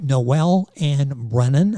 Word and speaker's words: Noel-Anne Brennan: marketing company this book is Tiger Lily by Noel and Brennan I'm going to spell that n o e l- n an NE